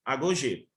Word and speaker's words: agogê: Que é o período que nós chamamos de agogê, tá? Escreve como pronuncia, agogê, tá?